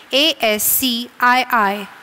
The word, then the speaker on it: ASCII: ASCII stands for the American Standard Code for Information Interchange, better known by its abbreviation ASCII. It is pronounced as ASCII.